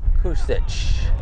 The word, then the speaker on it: Kusich: credit for it Alex coic will now come to the plate let me get the correct pronunciation it's Alec kusich kusich wrong graphic sorry about that